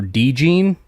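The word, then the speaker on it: DeJean: off and say that apparently the way you say his name is Cooper deene according to Dane Brugler I'm there's so at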